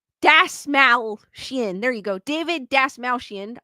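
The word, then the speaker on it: Dastmalchian: Dalmatian. Dasmalchian.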